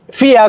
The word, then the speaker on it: vier: Entonces, FIA comienza con esta B que es V, I, E, R, FIA.